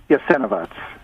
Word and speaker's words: Jasenovac: What is the proper pronunciation? Jasenovac.